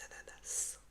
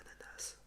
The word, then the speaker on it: ananas: Un ananas. Anana, ananas. Je viens du sud, on prononce toutes les lettres chez moi.